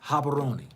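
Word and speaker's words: Gaborone: view about rhonda yeah they read the g like h or do they pronounce the g like h yes haberoni how much was the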